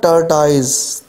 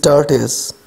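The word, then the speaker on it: tortoise: This is नॉट टर्टाइज, this is टर्टिस, ठीक है जी, टर्टिस।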